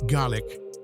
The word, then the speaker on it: Gaelic: Lochmaddy Adventures, where laughter fills the classroom as learners dive into Gaelic, pronounced Gaelic, conversation practice.